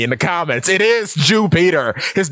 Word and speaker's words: Jupiter: And yes, it is pronounced Jupiter. People were mocking me in the comments. It is Jupiter.